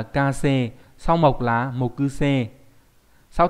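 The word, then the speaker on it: 火星: Sao hỏa, hỏa tinh là kasei.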